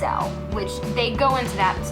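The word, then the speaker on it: Aysel: this girl who was her name is azle which is not how you say it it's spelled a y se elders pronounced as L which they'd go into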